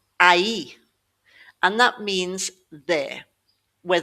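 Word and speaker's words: aí: But when we have an accent on this i, we're splitting the two sounds into individual signs sounds, an a and an e. a e So, it becomes a e.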